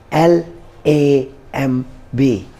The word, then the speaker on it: lamb: dumb eighth word is l a m b lamb this is not also lamb this is lamb b is again silent here ninth word is limb